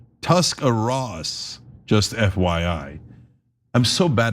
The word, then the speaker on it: Tuscarawas: It's Tuscarawas, just FYI. I'm so bad at pronouncing it even when you put the pronunciation.